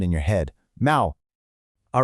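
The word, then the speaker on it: 猫: The word for cat is neco, which is pronounced mau. You know, it kind of sounds a little like a cat's meow, right?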